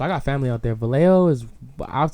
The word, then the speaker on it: Vallejo: So This is pronounced Vallejo.